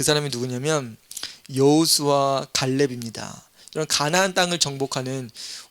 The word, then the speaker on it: 여호수아: 자, 여호수아는 여호수아, 우리 발음은 여호수아인데 히브리 발음으로는 예호슈아입니다.